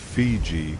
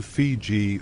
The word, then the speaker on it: Fiji: The Tongans pronounced Viti in their own way, closer to Fiji or Fiji.